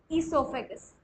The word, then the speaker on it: esophagus: e in the esophagus o is silent pronunciation starts with e esophagus okay esophagus esophagus it